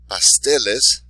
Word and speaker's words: pasteles: So when the word ends in a vowel, N or S, place the stress on the next to last syllable.